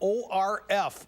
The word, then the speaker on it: Orf: That's spelled O-R-F, Orf.